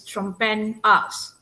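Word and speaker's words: Trompenaars: We study about Hofstede, but this for Dutch they call it Hofstede, Hofstede, and then Trompinas, for Dutch, the pronunciation is Trompen-As, and Hofstede, is actually,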